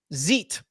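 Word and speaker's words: xeet: This is from X's Help Center on how to zeet. How would you pronounce that? Zeet? Yeah, like Xerox. Like a xylophone.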